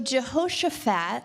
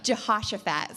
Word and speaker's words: Jehoshaphat: Jason told me it's I wasn't saying it right Jehosaphat oh yeah I just got it yeah Jehosaphat sorry it's like a little bit more like Josh maybe that's where Josh came from okay all right